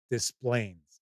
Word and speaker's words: Des Plaines: about a suburb of Chicago, which is called Des Plaines. DES space PLAINES. Des Plaines is how it is pronounced.